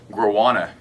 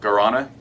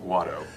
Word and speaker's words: Guarana: Guarana, I believe this is how you say it. Guarana. Okay. It's basically an herbal caffeine. Guarana It's is bat crap. not guado. Come on now.